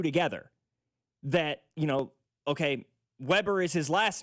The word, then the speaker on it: Weber: And I'm like, "No, it's Weber, but it's spelled Weber. It's just one B, but it's pronounced Weber."